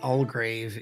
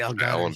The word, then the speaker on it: Algarve: Now, I mispronounced it just for the word. My dyslexia kicked in. It's actually Algarve.